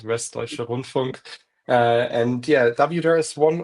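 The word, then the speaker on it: Westdeutscher Rundfunk: And so for those of us who may not be familiar with what WDR, Westdeutsche Rundfunk, and ARD, I'm not going to try pronouncing that one.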